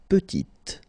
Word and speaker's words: petit: Il est petit, elle est petite. Okay, exactly the same idea. Final T is not pronounced, and then when you add this E at the end, you get the sound T, T, petite.